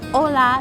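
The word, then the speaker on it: Hola: 他就說沒有人這麼講的，這個是 H 是不發音的，所以是歐啦。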